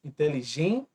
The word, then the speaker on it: inteligência: tempo inteligência e diálogo inteligência Observe aqui é a penúltima sílaba mais forte quando é a penúltima nós vamos chamar de paroxítona e aqui leva assento porque termina em DIT tongo tá inteligência assim como